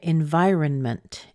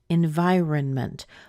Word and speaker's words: environment: both of these and we often do pronounce it the same as the word iron so sometimes you do hear people say in V environment environment or environmental but a